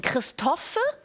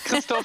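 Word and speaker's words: Christophe: Christoffe oder Christoph? Christoph. Hallo zusammen. Christoph ist richtig. Das so. E spricht man nicht aus.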